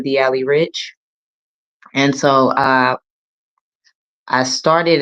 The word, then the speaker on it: DI'ALI: And first and foremost, let me just say a lot of people struggle with how to say my name, D Ali. D comes from my nickname Diamond, and Ali comes from my first name, and then Rich is my last name.